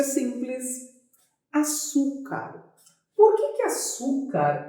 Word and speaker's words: açúcar: Açúcar. Por que açúcar é uma palavra que tem acento? Separa açúcar. Açúcar. Qual é a sílaba mais forte? É o su.